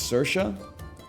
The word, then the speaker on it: Saoirse: I can't pronounce her name, but that's my fault more than anything else. It's Saoirse.